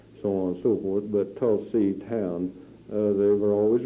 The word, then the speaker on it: Tulsa: she had heard about tulsi town and as much as i had learned in school and the pronunciation of tulsa she still called it tulsi and not tall sir the why don't you